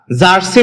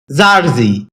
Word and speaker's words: jersey: জারজি এটাকে আমরা জারসি বলে থাকি যার সঠিক উচ্চারণ হচ্ছে জারজি শব্দটি বাক্যের নাউন হিসেবে ব্যবহৃত হয়।